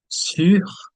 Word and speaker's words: sur: So, the pronunciation for this is sur, and here it's sous.